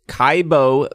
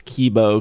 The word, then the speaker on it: Kibo: It is the Kaibo Pikachu, or Kibo. I think I was saying it wrong. I think somebody said it's Kibo because the I is the E.